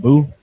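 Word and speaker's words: beau: um Oh Bo yeah the actual French word pronounced bo my bumper yeah I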